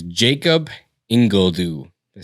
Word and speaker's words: Ingledue: And it's Jacob Ingledue.